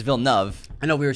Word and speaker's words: Denis Villeneuve: We said it wrong for about a year and a half. We were saying Villeneuve. It's Villeneuve.